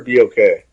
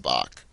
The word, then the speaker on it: BOK: It's the Bach Center or BOK? I think it's BOK. I don't think it's pronounced Bach. Because it's short for Bank of Oklahoma, if I'm not mistaken.